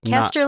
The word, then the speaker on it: Koester: Caster like tester, not coaster like toaster.